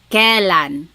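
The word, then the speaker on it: kailan: Then the word kalan when you might hear some people say kalan sounds like an e but it's technically spelled with an ai.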